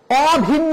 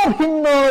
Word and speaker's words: অভিন্ন: কোন পরিবর্তন হবে না অ ভিন্ন মানে ভিন্ন নয় এখানে অ নেতিবাচক অর্থে ব্যবহৃত হয়েছে সেজন্য আমরা অভিন্ন বলবো না আমরা বলবো অভিন্ন অঘারাম অঘারাম বলা যাবে